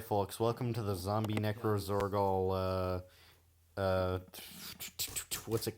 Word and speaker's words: Necrozorgol: I have never emotionally recovered from zombie necrozorgol. Necrozorgol. Jaundice. No, it's necros. You said it right the first time.